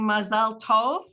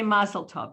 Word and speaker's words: mazel tov: pronunciation torah versus torah i can hear rabbi kat saying masal tov i say mazel tov that's the ashkenazi yiddish pronunciation do you call it